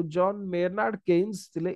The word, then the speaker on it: Keynes: जणे महानुभव थिले बा इकोनॉमिस्ट थिले, सिए होचंद केन्स। ओके, तांको पूरा ना होची John Maynard केन्स। Okay, spelling दा ओके ठीक अछि, KEYNES। Okay, KEYNES केन्स।